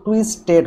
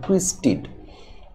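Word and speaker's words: twisted: এখানে কিন্তু টুইস্টেড হবে না, এখানে হবে টুইস্টেড। এখানে ইডি এর উচ্চারণ হবে ইড এর মতো, আর এটি কেন হবে আপনারা একটু পরে জানবেন।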